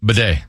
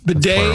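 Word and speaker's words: bidet: Bedet. Bedet. It's spelled b i d e t-s. The bedet is. Yeah, betay are the best.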